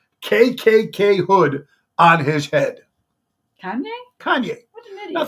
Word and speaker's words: Kanye: crazy Cayenne West or Keon how do you pronounce his name k k Kanye Kanye West Kanye had his album his brand